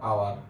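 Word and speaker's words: hour: ঠিক আছে, এবার যদি তুমি বলো যে এটা, তাহলে তুমি বলো যে এখানে বলা হয় যে আওয়ার, এইচ ও ইউ আর, আওয়ার।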